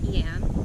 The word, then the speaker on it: yam: The Sanskrit mantra for this chakra is Yam, or Y-A-M, Yam, but of course pronounced Yam.